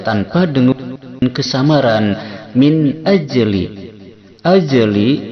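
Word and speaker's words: أَجْلِ: Min ajli, ajli jim sukun di tengah kalimat ini hukumnya cara bacanya dikolkolahkan, dipantulkan.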